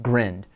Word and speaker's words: grind: thing called a green it's spelled just like grind but it's pronounced grand we're pilot whales are